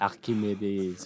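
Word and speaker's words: Archimède: They say Archimede. I think that the k sound is that's Greek for the C. Yeah, so, they just say because ch in French is sh.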